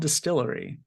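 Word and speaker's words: DSTLRY: getting a new publisher it's called Distillery and it's spelled all caps d-s-t-l-r-y um Distillery is founded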